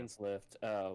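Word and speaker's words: Dainsleif: What about Dane Slip? How do you pronounce that guy's name? Dane's Lift, voiced by Yuri Lowenthal.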